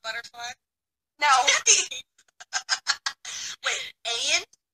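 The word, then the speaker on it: Ain: Wait, Ayan? How do you spell it?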